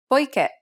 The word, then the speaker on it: poiché: Here's another one. poiché, As indicated by the accent, the last syllable should be stressed.